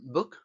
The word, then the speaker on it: book: U corta, por ejemplo, en book. U larga, como por ejemplo en boot. Y vuelvo a repetir. Tenemos una doble O que se pronuncia con una U corta y aquí tenemos también